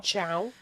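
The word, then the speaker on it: Thiaw: A couple of really good setpiece goals from I think you pronounce this guy Tiao, I think, or Ciao. Ciao.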